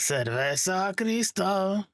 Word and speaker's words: Cerveza Cristal: Cerveza Cristal. Is that how you pronounce it? Cerveza Cristal.